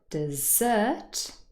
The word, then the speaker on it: dessert: is stressed and in the second word dessert the second syllable is stress and if you find